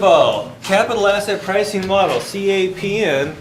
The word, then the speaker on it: CAPM: capital asset pricing model capm is pronounced cap M so if you want